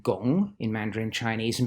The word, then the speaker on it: 汞: friend mercury is called gong in mandarin chinese and because that sounds like the word for work the character for mercury